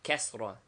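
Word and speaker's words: كسرة: above the letter, and kasra, I, as in hit, written below the letter.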